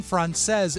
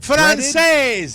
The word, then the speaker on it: Francese: Last night for dinner, I made Martha's Best Chicken Francaise, and we were arguing about how to pronounce Francaise. I thought it was Francais. But it is an Italian-inspired dish. Really? So it's a breaded, Francese.